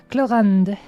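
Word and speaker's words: Clorinde: her name like that as that is apparently pronounced in France since I don't know there's like a bunch of different regions of French speaking people but uh obviously since I live in Europe and they're my neighbors I want to pronounce it in the proper French way so cland should be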